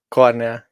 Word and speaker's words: Kornél: I'm guessing it's just Corell yeah Corner yeah corner like Corner yeah okay like cor cor like uh you it's like Cornell basically but uh we in